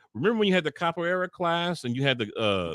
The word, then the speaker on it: capoeira: How do you say capoeira?